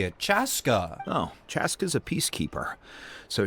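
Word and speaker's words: Chasca: Chaska.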